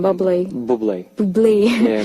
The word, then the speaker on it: Bublé: Bublé. Bublé. Yeah, Michael Bublé.